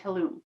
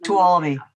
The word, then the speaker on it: Tuolumne: on Alpine, Amador, Calaveras, Inyo, Mariposa, Mono, and Tulum. And I know I pronounced that wrong. I'm sorry. Tuolumne.